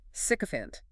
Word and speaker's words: sycophant: Sycophant. S-Y-C-H-A-N-T. S-Y-C-O-P-H-A-N-T. 3 syllables. Stress on the first.